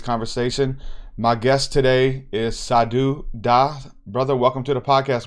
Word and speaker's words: Sadhu Dah: jump into today's conversation my guest today is sadhu da brother welcome to the podcast man how are